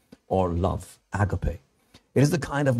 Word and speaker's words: agape: And now this is the word agape in the Greek, a word I'm sure that you're familiar with, although many of us pronounce it agape.